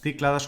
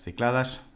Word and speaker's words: Cícladas: Esta película se titula Las Cícladas o Las Cicladas, depende cómo lo queráis pronunciar.